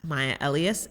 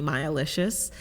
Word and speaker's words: Maya Elious: me on instagram at my elias m-a-y-a-e-l-i-o-u-s i always have to spell it because people sometimes call me mayalicious i'm like only for